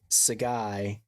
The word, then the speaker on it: Sigai: MATTS _ UH _ GUI. And why do you have that Instagram handle? Because my name is Sigai, and always people ask me how to pronounce it.